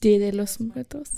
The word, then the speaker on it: Dia de los Muertos: There are so many people bringing amazing culture to this town, and it's from the how do you pronounce it? Dia de los Muertos.